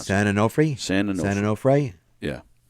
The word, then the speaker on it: San Onofre: San Onofre is pronounced. San Onofre is how you pronounce it. San Onofre?